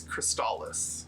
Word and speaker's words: Crystalis: But I think our consensus is it's Cristales.